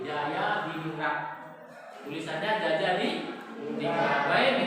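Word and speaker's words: Djajadiningrat: Kenapa ditulis dijajah? Karena dijajah itu adalah ejaan lah. Nah, jadi kalau DJ itu sekarang dibaca Y, Jaya di Ningrat.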